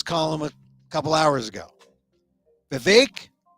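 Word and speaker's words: Vivek: a couple hours ago beake rhymes with cake the ramaswami Was preparing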